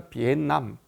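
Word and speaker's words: Việt Nam: 전에 비에트남 갔다 왔는데 우리는 늘 베트남이라고 발음을 해왔었는데 거기 갔더니 비에트남이 아니라 비남 이렇게 발음을 하더라고요 그래서 그나라 사람들의 말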